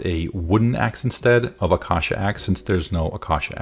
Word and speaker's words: acacia: GPT-4 realizes it should craft a wooden axe instead of acacia axe since there's no acacia axe in Minecraft. I hope that's pronounced acacia. Acacia. It's pronounced acacia.